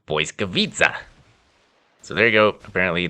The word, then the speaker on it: Błyskawica: It's not an L, it's a W. And the WIC, it's not actually WIC, it's TZ, or TZ for you Yankees. And the sound it makes, at least in my mind, rhymes with pizza. So you say Błyskawica.